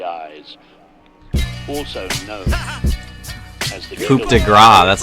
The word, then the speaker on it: Coup de Grâce: Also known as the Coup de Grâce, that's how you say it.